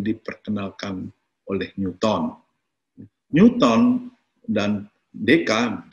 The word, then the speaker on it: Descartes: oleh Newton Newton dan DKM Descartes tulisannya DK bacanya dan alirannya kemudian ada